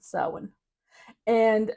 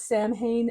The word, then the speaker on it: Samhain: way saan is pronounced it's spelled Sam Hayne for all of us you know Canadians and Americans phonetically that's what it looks like and I will forever call it Sam Hayne in my brain but